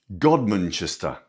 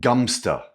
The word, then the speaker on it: Godmanchester: Godmanchester. With the stress on the first syllable, but uh some of the locals just call it Gumster.